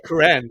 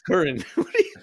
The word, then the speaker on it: Curran: it his younger brother stop saying Karan man it's curan oh it's not Karan Sam Karan well yeah